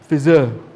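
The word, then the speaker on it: Pfizer: the sponsors messages gold sponsor how do you pronounce that p f i z e r fizzer one of the world's premier bio biopharmaceutical companies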